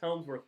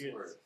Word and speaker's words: Hemsworth: The other person who really stands out with it, Chris Helmsworth plays the dumbest It's character I have ever seen. It's Hemsworth.